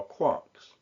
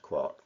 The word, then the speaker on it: quark: The most fundamental particles are quarks. Pronounced quark that way, not quark.